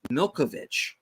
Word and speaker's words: Malkovich: because it's it's weird John malkovich's name is actually pronounced Milkovich okay all right uh